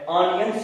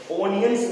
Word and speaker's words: onions: ऑनियंस है, ONIONS, ओनियंस नहीं बोलने का, ओ को ओ ना बोले, ओ को आ बोले। ऑनियन, ओपिनियन, consonant, preposition, possessive, ओ को आ बोलने का नहीं, आ बोलना है, ओ नहीं बोलना।